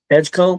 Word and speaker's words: Edgecombe: VJ Edgecombe. Edgecombe. Oh, that's what I was going to pronounce it.